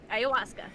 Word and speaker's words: Ayahuasca: Ayahuasca, yeah.